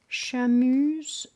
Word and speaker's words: Seamus: Shamus or Seamus? Shamus.